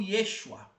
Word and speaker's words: Yeshua: Quando eu falo de Jesus, eu não tô falando de Jesus com J, porque Jesus em hebraico é Iua ou Yeshua, depende da da da pronúncia.